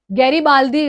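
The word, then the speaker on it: Garibaldi: that is जसे पे गैरी बालडी गैरी बालदी बोलते हैं बहुत सारा लोग इसको pronounce but that's completely fine we just have to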